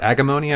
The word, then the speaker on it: Agemonia: It was Agemonia. I think it's pronounced Agamonia.